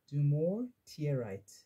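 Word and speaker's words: dumortierite: and Crystal companions or do more tears tear right I'll spell it d-u-m-o r t i e r i t e do more tear right then a hidden Knight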